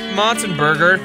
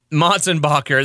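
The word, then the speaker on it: Motsenbocker: Coming to Albuquerque May 1st at the Lobo Theater, Tyson Motzenberger, Tylen Motzentackle, Tyson Mulber Tackle. No. Hey, Daniel. Yeah. What's this? How do you pronounce this guy's name? Motzenbacher. Motzenbacher, that's right.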